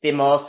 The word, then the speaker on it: thymos: Aspasia was telling me it's thymos. I've been saying it wrong like a white Virginian, and I have been, so I'm sorry.